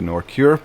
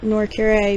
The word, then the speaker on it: Nor'Kure: up making the name Norcure because it means refuge of the redeemed in Draanic. Now is Oh, is it Norure? Yes. Okay. I've been say Ma'am, I've been saying it wrong.